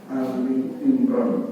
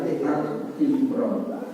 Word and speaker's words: Ali Imran: Satu di antara bimbingannya Allah sampaikan di dalam surah Ali Imran. Pembacanya Ali Imran bukan Al Imran.